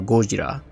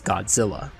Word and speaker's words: Gojira: him as the legendary monster Gojira which the Americans later mispronounced as Godzilla Monarch unsuccessfully searched for